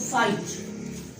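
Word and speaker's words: fight: For example मैं अगर कहूँ फाइट, फॉर एग्जाम्पल मैं कहूँ बॉट, तो अगर आप इनको नोट करें तो जी और एच को प्रोनाउंस नहीं किया जा रहा, ये सिर्फ लिखे जा रहे हैं।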